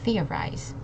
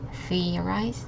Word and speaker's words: theorize: Next we have theorize, emphasizing on this syllable, theorize. Okay, but if you say it quick enough, it's just theorize, theorize, theorize. Okay.